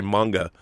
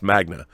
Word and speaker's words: Magna: It's Magna, right? I want to say manga, but it's not. It's Magna.